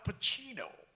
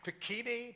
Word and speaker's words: Pacino: is, first of all, he said, Al Pacino. He pronounced my name right. That never happened. I went to a whole school, in public school, they never, Pacini, Pacuno, Pacani, that kind of thing.